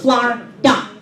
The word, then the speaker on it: Florida: See, down here in Florida, yes, that's right, it's 2 syllables, Florida.